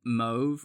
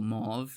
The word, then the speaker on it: mauve: Um, I think most people will call it mauve or mauve, depending on how you pronounce it, but kind of a a bluish purple is about the best you could say for it.